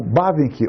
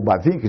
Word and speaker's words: Bavinck: O Bavinck, ou Bavinck, de acordo com a pronúncia que adotarmos, foi um dos grandes teólogos, já mencionei, no século XIX e início do século XX, holandês.